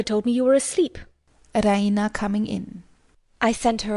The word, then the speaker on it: Raina: She pronounces it the Raina with the stress on the E.